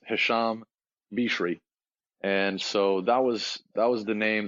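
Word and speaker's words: Hicham Birchi: hear me yeah excellent so the pronunciation of my name the the correct one is this Hassam be cherie and so that was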